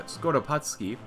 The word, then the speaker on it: Skoropadsky: We have the Kingdom of the Ukraine, kind of a long boy here, led by Skoropadsky.